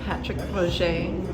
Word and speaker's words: Patrick Roger: That's how you say it, Patrick Roger.